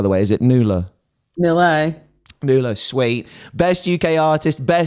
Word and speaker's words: Nula: Am I pronouncing that right, by the way? Is it NULA? NULA.